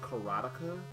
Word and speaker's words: Karateka: first things first um I didn't realize that this was pronounced carotica when I was much